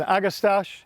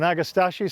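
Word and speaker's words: Agastache: beautiful orange plant is an agastash or an agastashi some people pronounce it from the Kudos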